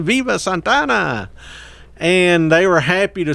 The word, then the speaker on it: Santa Anna: as we you know santana if it's correctly pronounced but you know santa ana to those of us uh he actually overthrows